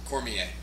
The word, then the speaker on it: Cormier: Cormier.